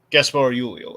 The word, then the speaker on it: Gaspard Ulliel: Yeah, I think the D would be silent. Oh, I mean, Well- I'm not. Let's see. Yeah, the D is silent. Gaspar Ulio.